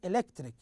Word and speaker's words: electric: is electric electric here we have three syllables and we have the second syllable here stressed so we say electric and and the third